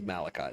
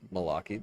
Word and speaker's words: Malachi: The pronounce pronunciation is Malachi. That is the truth. But if you want to call me Malaki, that doesn't really bother me.